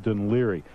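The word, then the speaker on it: Dún Laoghaire: is where Boomtown Rats are from but it's pronounced d liri now the strange part is that of course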